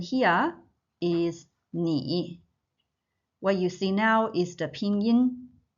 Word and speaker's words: 你: The pronunciation here is 你.